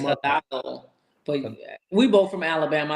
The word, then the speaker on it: Hidalgo: Let's talk about your girl Hannah Hadagio. Did I say her name right? Hannah Montana. I think Hannah it's Montana. Hidalgo.